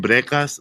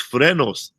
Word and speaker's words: frenos: messed up and um i've been saying brekas my whole life yeah hey man would you fix my breakfast but not english a spanish word it's frenos i've been saying it